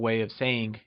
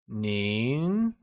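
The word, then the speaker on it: 您: Lets try and say Nín It is said with a mid rising tone also known as the second tone, Nín Greetings Hello (formal / respectful) Nín hǎo Tonal tips Lets try and say Nín hǎo Do you remember?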